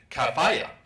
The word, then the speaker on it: kafiye: knew how to pronounce kafia, on the little audio uh site that I went to on on the web, they had an Egyptian woman pronouncing it kafaya.